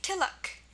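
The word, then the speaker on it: तिलक: It's pronounced I, as in kitten, and our rule is very simple.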